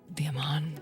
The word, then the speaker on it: Aman: The Aman. It's That's pronounced.